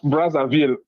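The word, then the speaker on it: Brazzaville: You pronounce Brazville exactly how it's supposed to be.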